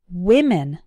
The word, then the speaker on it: women: to an E but the difference in pronunciation is actually in the first syllable women WI we women repeat after me one